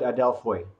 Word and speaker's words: Adelphoi: Is that, am I pronouncing it right? We call it Adelphoi. Foy. Okay, excellent. I did not pronounce it right.